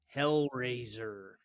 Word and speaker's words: HellRazor: HellRazor.